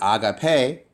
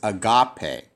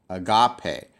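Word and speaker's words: ἀγάπη: So if I put the stress at the end, it'd be agape, but that's not the right pronunciation. The stress is not here. It's actually here. So it's agape, agape.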